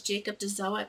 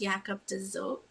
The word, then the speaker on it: Jacob de Zoet: was talking about reading this that it was Jacob to sew it but it's actually pronounced yak of desert and this book follows a man a clerk